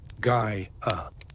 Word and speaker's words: Gaia: Gaia. Feel this name on your lips. Guy uh three syllables each one round and soft like the rolling earth like gentle soil.